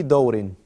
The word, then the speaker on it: دور: You can put a فتحة on the dal. في أي دور.